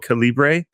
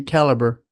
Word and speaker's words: Calibre: end which is why we sometimes call it Calibbre. There is a reason why. Well, even the even though co says it should be caliber.